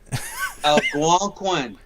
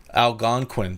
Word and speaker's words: Algonquin: How do you pronounce that? Algonquin. Algonquin.